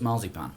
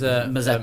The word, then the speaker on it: Mazepin: We had split drivers in the Force India with Lucas Auer and I keep wanting to call him Nicholas Marzipan. No, is Mazepin.